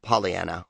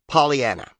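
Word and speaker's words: Pollyanna: In a sentence, the dictionary indicates that polyiana rhymes with French Guana.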